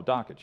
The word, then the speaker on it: Dakich: Oh, Dockich, yeah. Oh, Dockich. did I say it wrong? A lot of people say Dockich. It is Dan Dockich. Dockich.